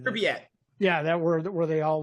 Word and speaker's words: Pripyat: In Pripyat, I think is the name, how you pronounce the city. Pripyat.